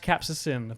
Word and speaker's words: capsaicin: But it's pronounced capsaicin.